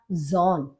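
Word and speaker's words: Sohn: आपने कई शब्दों में देखा होगा बोलते हुए कि कभी कभी बीच में जो आपका एच है, हाँ है, वो साइलेंट होता है और सा का प्रोनाउंसिएशन जा होता है। तो ये आपका बोला जाएगा जॉन।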